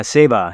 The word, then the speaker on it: Seva: And you write in the book about Seva. Am I pronouncing that correctly? Yeah, Seva. Yeah, Seva.